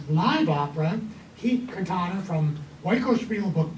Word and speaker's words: Oikospiel: But his directorial debut, and I'm going to use the ancient Greek pronunciation, Oikospiel, if it's modern Greek, it's Ikospiel.